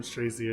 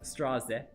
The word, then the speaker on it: Straze: Someone on YouTube says, don't call him Strazy anymore, please. You know, in Korean, his name is pronounced Straze.